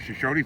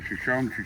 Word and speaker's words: Shoshone: We're at Shoshone Falls now. Or Shoshone, however you pronounce it, depending on what part of the country you're from.